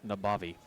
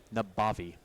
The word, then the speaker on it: Nabavi: And this is actually pronounced Nabavi. Navabi. Nabavi. Nabavi. Yep. Well, sure enough, if you put the B in front of the A, it does.